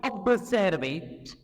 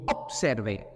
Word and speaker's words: observer: Maintenant, quand vous avez à l'écrit la lettre B, suivi par ce ou P, B ne se prononce pas P, mais se prononce P. On ne doit pas dire observer, mais on dit observer, observation. On ne doit pas dire obtenir, mais on va dire obtenir.